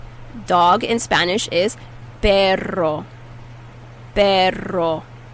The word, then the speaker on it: perro: say dog in spanish you have to roll your tongue and get that r dog in spanish is perro perro how do you